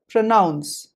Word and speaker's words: pronounce: the usual suspect pronounce note the highlighted part n-o-u-n noun yes it's really surprising that we have a noun within a verb but jokes apart this is the word where you say the noun part as clearly as it feels like so the word is to be pronounced as pronounce up next number three